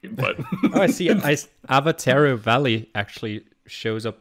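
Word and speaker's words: Awatere: but i see ice avatero valley actually shows up like really far zoomed out avatar oh look at that yeah oh you pronounce the w as a v i i forgot that's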